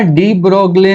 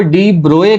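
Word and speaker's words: de Broglie: फिर ना डी ब्रोगले ने, जिसको डी ब्रोए कहते हैं, ये ब्रोगली साइलेंट वर्ड होता है लेकिन अपन क्या है यूज टू हो गए चीजों को पढ़ने के।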